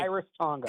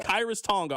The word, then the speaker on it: Khyiris Tonga: It's Khyiris Tonga. Is that how you pronounce Is Is that how you pronounce his name? correct. Okay. Khyiris Tonga. Khyiris Tonga.